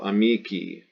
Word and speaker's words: amici: whose genitive singular Zend in the letter i pronounced e so amici i agree belly you